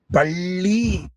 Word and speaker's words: பள்ளி: தடவ சொல்லி பாருங்க பல்லி அதே நாக்கு அந்த அண்ணாக்கள் நடுவுல முட்டுனா பள்ளி என்று அது உள்ள மடிச்சு போட்டீங்கன்னா